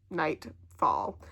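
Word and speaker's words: Nytefall: I just looked at the Goodreads, and the series is called the Nightfall series, and it's spelled N-Y-T-E fall. Nightfall.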